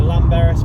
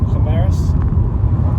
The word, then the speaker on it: Llanberis: I'm going to run up the Llanberis path, because it's not pronounced like that. I believe it's Llanberis. The double L.